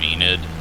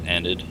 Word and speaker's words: Enid: a bit west of enid so enid's got to be right there hopefully it's not pronounced ended see if i can get a uh nope looks like i'm saying it right yeah land has gotten